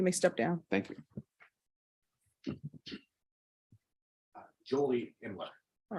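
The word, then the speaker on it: Jolie Imler: state your name for the record and please spell it Julie imler j-o-l-i-e-i-m-l-e-r all right state ment what do you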